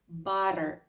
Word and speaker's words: butter: Це таке собі легесеньке поєднання звука т з дуже м'яким звуком д, як у слові. Butter. Butter, звичайно, не є помилкою сказати butter, але американці дуже ліниві. Вони не хочуть вимовляти це довге бац, вони хочуть швиденько сказати butter і рухатися далі.